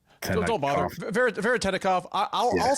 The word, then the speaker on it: Veretennikov: Veretennikov.